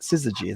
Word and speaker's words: syzygy: okay so syzygy is how you say that syzygy it's an actual word it's when the planets